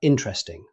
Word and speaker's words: interesting: Finally, we have interesting. Rather than saying every syllable, native speakers usually pronounce it interesting. The first E after the T simply disappears.